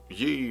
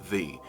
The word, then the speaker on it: ye: A lot of people think it sounds old-fashioned to say, oh, ye, merry, what not. No, that's not what people used to say. Y-E is pronounced the.